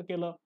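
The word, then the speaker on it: coup: buildings आहेत त्यांना capture केलं हल्लाबोल केला आणि त्याच्यामुळे मग काय झालं एक प्रकारचं त्याला आपण म्हणतो कुला आपण म्हणतो पॉलिटिकल कु पण त्याचं जे स्पेलिंग आहे ते वेगळं आहे सी ओ यु पी पॉलिटिकल कु म्हणजे काय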